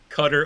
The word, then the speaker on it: Qatar: you pronounce it yeah I think officially it's cutter I call it guitar and I can't get